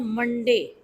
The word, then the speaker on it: Monday: This is not Monday, Monday. No, Monday, Monday. You should not give stress to day.